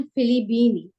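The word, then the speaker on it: فلبين: यस, हुन्ना मिनल फिलीपीनी, वो Philippine से हैं। फिलिपीन, जी बिल्कुल, इसके मिन स्पेलिंग हा जरा बुक में देखिएगा कि कैसे लिखे हैं, फिलिपीन बा के ऊपर तशदीद होती है, जी।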